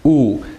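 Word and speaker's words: wu: like the last name woo maybe a program so it's actually pronounced ooh because it's just a U but the W has to be in there in pinging so whoa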